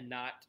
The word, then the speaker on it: knot: of course tonight uh we have a k at the beginning of one that is silent you do not actually pronounce the k so not and of